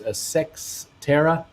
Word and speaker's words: Sextera: Chandler Labs, Uncle Bruce, it's pronounced Sextera in the data center world.